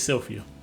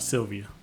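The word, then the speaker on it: Sylphie: I said the name wrong the whole video. It's Sylvia. Sylvia. Not Sylvia.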